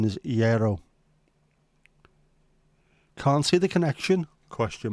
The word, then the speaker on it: gyros: right common mispronunciations include giros Jos and Gyros the correct pronunciation is Yo can't see the connection question mark the g is silent ye is the pronunciation